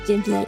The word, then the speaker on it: Ghibli: That is how you say Ghibli, yeah, see?